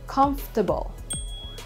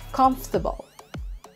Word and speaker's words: comfortable: like the interesting we omit one of the syllables comfortable hindi comfortable it should be comfortable comfortable next one would be this word we say